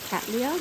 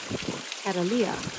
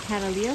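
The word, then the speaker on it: Cattleya: actually told me that the correct way to say it is Catalia I guess I'll be saying Catalia from now on but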